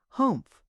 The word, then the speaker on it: Humph: "If you read the story aloud, please pronounce humpf exactly as it is spelled, for that is how he said it. Humph.